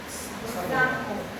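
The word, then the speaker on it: psamoma: Y que también puedo encontrar entre las ramificaciones los cuerpos de samoma. Los cuerpos de samoma. De samoma. ¿Cuándo se van a confundir? Papilar, P con P. Y samoma se escribe con P.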